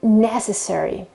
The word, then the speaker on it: necessary: reason uh the adjective necessary necessary the accent is on the first e okay necessary it's not